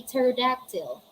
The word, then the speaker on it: pterodactyl: see sephology is silent we don't say pizzerodactyl we say pterodactyl all right we don't